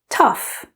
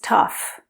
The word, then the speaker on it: tough: Tough. The pronunciation of this one is quite different, even though it looks so similar with the O-U-G-H spelling. The pronunciation is tough, which sounds a little like tough.